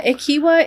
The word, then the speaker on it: Equihua: Yeah, Akiwa is my last name and I um when I was growing up it was a very difficult last name to pronounce.